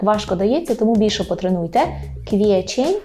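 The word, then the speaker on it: kwiecień: на курсі і Ідемо далі квітень польською квічень квечень квечень квечень А у квітні в кветню кветню з того що помічаю квечень трошки нам так важко дається тому більше потренуйте квечень в кветню в кветню обходми века в кветню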